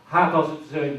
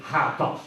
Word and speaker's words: HTAS: So HATAS, you've read it probably, you may not have known how to pronounce it, but this is the way it's pronounced in Holland.